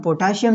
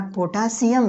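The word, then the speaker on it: potassium: आप कहेंगे पोटाशियम, पोटाशियम नहीं है यार, पोटासियम है।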